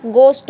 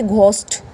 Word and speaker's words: ghost: तो ये क्या बोलेंगे, यहाँ पे ये H साइलेंट होगा, गोस्ट होगा, ना कि घोस्ट।